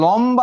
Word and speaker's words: লম্বা: তাহলে লম্বা যেটা ছিল কি হয়ে যাবে বলো তো? লম বা।